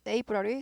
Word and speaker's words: April: 발음은요. 경음화돼요. 된 발음이 나요. 그래서 April이라기보다 푸하고 숨이 많이 새요. 그래서 힘들어요. 발음하기가. 그래서 April 해서 숨이 많이 안 새는 경음을 택하죠. April이라기보다 April. 뿌 발음처럼 납니다.